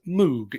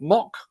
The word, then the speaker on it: Moog: little bit squiffy there the company that come out to have done that with is moog Incorporated not mock but Moog we tried we tried